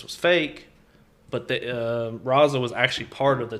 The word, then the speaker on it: Raza: about the pronunciation yeah it's because it's r-a-z-a it's raza whatever uh but he's wearing